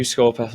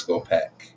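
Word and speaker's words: Skorpekh: It's Scorpec, but whatever. Scorpeth. Where's the Scorpeth. F? It's just my pronunciation. Scorp is the P. Scorpeth. Scorpec. No, it's like Egyptian, so it's pech.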